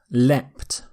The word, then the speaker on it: leapt: So a slightly different pronunciation. The T ending here, leapt, is slightly more common in British English, and the ed ending is slightly more common in American English, but they're both okay.